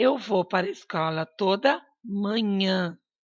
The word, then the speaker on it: manhã: vou para escola toda manhã olha a diferença pessoal pronuncia ó manha manhã a salada de fruta